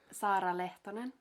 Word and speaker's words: Saara Lehtonen: Sara Leon.